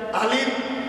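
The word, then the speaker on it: ألف: কি খা পজি পালের বলে বন্ধ হয়ে যায় আলিফ বললে মুখটা বন্ধ হয়ে যায় উপরের যখন খবর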